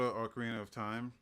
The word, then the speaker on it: Ocarina of Time: new game called uh the legend of zelda ocarina of time and that's how you pronounce it i was reading it i was